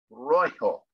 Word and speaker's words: rojo: And in Spanish, it's color rojo. Rojo is how you pronounce that.